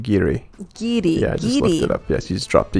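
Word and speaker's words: guiri: the same it's pronounced giri gidi yes he's dropped to you yeah so as i was saying in spanish we usually don't pronounce the u when we use the um the g letter okay so if you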